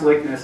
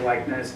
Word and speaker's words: Liknes: And it's pronounced Likness. Everyone wants to say Likness, but I was stuck with the Norwegian name, so to call that out.